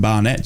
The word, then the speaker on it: Barnet: is it Barnet Barnet Barnet that's Barnet it's it's like that stuff on top of your head it's a Barnet mate don't your B do